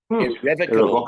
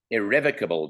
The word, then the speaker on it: Irrevocable: In the last race of the day, number 2, Irrevocable Dream, or as it's pronounced in the Collins English Dictionary, Irrevocable Dream. Irrevocable Dream.